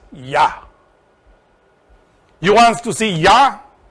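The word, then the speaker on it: יה: God, as creator, is here in that, because in that, the first triangle, Keter Choma Binah, becomes Yod He, which is pronounced Yah.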